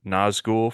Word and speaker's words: Nazgûl: with this because I can't remember I can't pronounce it nzou from Lord of the Rings that is correct